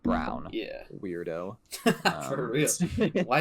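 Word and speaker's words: Braun: do you pronounce this man's name it's it's brown it's brown because it's spelled Brun it's spelled Brun but it's pronounced Brown yeah weirdo for real why you confusing us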